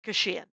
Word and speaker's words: Kashian: is for 20 years it's why i called the album staycation in the hopes that people would pronounce my name right oh beautiful and i